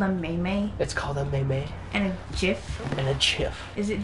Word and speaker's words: GIF: Yes, GIF, not that I have a preference. G with a hard G. She likes the hard G.